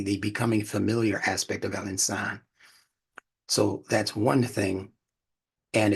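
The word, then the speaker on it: الإنسان: for pronunciation sake and excuse me to be pronounced Al insan don't say Al insan say Al insan because that vowel elongation is a part of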